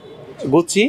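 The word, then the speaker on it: Gucci: ডি I Fendi ফ্রেন্ডি জি ইউ সি আই গুচ্ছি গুচ্ছি very good Z ই জি এন এ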